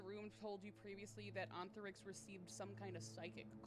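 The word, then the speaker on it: Ontharyx: Um, and Anthix is their father. How you spell that? O N T H A R YX. Oh, it's almost like ant.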